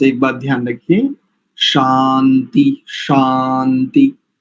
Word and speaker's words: शान्ति: शांति शांति है ना, ये शांति बिल्कुल ठीक आना चाहिए, शकार और उसके बाद आकार। कई बार शांति श यानी आधा श और या जोड़ करके शांति ऐसा उच्चारण प्रायः करके आता है, तो उसमें स्पष्टता से रखें कि आपका उच्चारण की जो ध्वनि है बिल्कुल ठीक हो, शा शांति ऐसा।